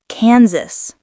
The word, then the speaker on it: Kansas: Kansas. Kansas, not Kansas. The S is voiced like Z.